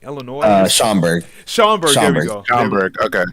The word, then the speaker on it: Schaumburg: Schlussenburg, like Illinois. Schaumburg. There we go. Schaumburg. Okay. Schaumburg. I couldn't pronounce it either.